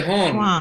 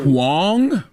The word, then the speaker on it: Huang: But you say Hong, and I think it's kind of funny, so it's cool. Huang? Huang. Yeah. Break Huang.